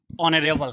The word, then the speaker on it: honorable: ठीक, HONORABLE, तो ये क्या होता है, ऑनरेबल।